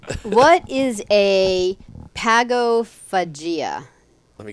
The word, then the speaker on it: pagophagia: do other things too I hope I'm pronouncing it right p-a-g-o p-h-a-g-i-a Pago pagophilia there's no l in it though oh didn't you just